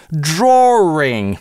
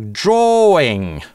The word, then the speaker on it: drawing: Draw-ring большинство британцев произносит это слово так. Также можно его произносить как drawing. Без linking [w]. Потому что после долгого /oː/ его не бывает.